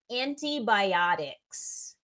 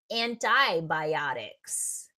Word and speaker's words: antibiotics: Sure, that word is antibiotics. Antibiotics. Okay. Now, some people might say antibiotics. Antibiotics. Either one is fine. It's not like one is right and one is wrong.